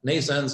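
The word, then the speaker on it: NNAISENSE: I should know because we have stana called nations which is affected by that nations is pronounced like Nathan's like birth in English but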